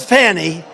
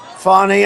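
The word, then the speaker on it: Fani: funny funny it's spelled Fanny it's spelled Fanny like your ass right Fanny but when she became da she decided to add a little French a little fancy fny fonny and you know fonny and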